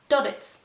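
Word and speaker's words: Duddits: doglets douglas douglas or dodditz because that's how douglas pronounces his own name so his name is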